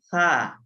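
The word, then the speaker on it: ث: এরপরে সা। সা। সা। সাটা হচ্ছে আপনার জিহ্বার আগা আর সামনের দাঁতের আগা।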